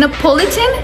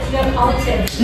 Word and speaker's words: Neapolitan: Napolitan? Neapolitan. Neapolitan? Yeah, pronounce the way it is.